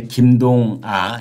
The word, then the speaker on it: 김동아: 수밖에 없거든요네 그래서 이제 김동아 김동하가 아니고요 김동 아짜 아이 아자를